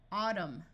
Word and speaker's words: autumn: combing climb climbing climber if you have MN at the end of a root the N will be silent so this sound is m m Au says a Autumn column solemn if you